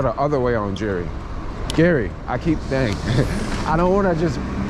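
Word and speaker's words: Geary: Gary, I don't want to just pronounce it incorrectly. You know, people are gonna be coming here saying, "Hey, where's Jerry Street?"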